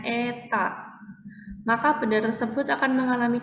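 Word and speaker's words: η: fluida kental yang koefisien viskositas nyaeta ini kita bacanya Eta maka benda tersebut akan mengalami gaya gesekan fluida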